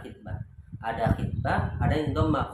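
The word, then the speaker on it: خطبة: Di sini dikatakan bismillahirrahmanirrahim mayyahtub minal khitbah bil kasri, bacanya khitbah. Ada khitbah, ada yang dhamma khutbah.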